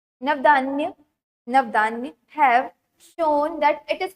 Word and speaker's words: Navdanya: For instance, farmer and citizens group like the Beach Bachao Andolan in Tehri and Navdayan, sorry, गलत pronounce कर रही हूँ, Navdanya have shown that it is possible and economically